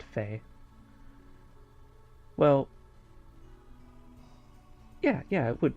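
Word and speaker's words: Fei: started playing this i thought it was uh phi but it's it's pronounced fae well yeah yeah it would be fae i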